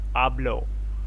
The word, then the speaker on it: hablo: earlier also we see the H is silent. So it's like not hablo, it's hablo.